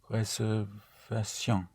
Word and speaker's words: réservation: Réservation. Right, réservation, yes. So all words ending in ation is ation because the letter A is pronounced A.